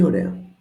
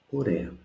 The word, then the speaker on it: ωραία: Πολύ ωραία. Very nice. Πολύ ωραία. 2 words here again. I see my accent, πολύ, and alpha iota is a sound as in permanent that we said.